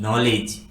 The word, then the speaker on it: knowledge: एन आता है तो उस वर्ड में के साइलेंट होता है और उसका प्रोनाउंसिएशन हम एन से करते हैं, जैसे कि KNOW नो,